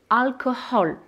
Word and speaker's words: alcohol: Lorsqu'on a des H à l'intérieur des mots, c'est la même chose, on va les prononcer et souvent, c'est sur cette syllabe qu'on va porter l'accent. Hein, donc, le comportement, on va dire the behavior. Peut-être, perhaps. Derrière, behind. L'alcool, en anglais, on l'écrit avec un H au milieu. Alcohol.